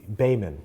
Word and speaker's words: Baiman: isaac uh oh god bayman baiman not bowman baiman you told me how to say it right in the other one